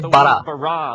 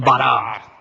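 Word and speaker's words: ברא: La palabra crear se dice bara. Repitan bara. Es una palabra contundente, llena de energía, de crear cosas. En un principio, Elohim bara los cielos y la tierra.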